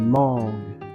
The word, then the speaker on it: mangues: Donc le G et le U, vous prononcez G. Mais sans prononcer le E à la fin. Ce sont des mangues.